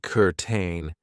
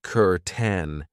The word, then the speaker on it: curtain: of the pronunciation I know it looks like kurtain but we pronounce it cten and this is something that you will find